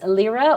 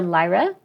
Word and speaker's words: Lyra: like a parallelogram so this is Lira or Lyra depending on how you want to pronounce it and I love it